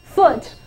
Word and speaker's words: foot: 错，这个字就念作 foot。